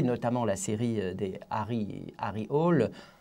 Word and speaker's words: Hole: la série des Harry Hole. Il paraît qu'il faut dire Harry Houlet, mais moi, j'y arrive pas.